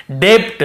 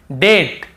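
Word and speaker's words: debt: मान लो ये नहीं होता तो हम कैसे पढ़ते? डेप्ट। हम कैसे पढ़ते? ऐसे पढ़ते हम। डे आधा ब और ट। डेप्ट ऐसे पढ़ते। लेकिन क्योंकि हमें बी को नहीं पढ़ना है टी के पहले तो केवल डेट डेट फिर देखिए डाउट डाउट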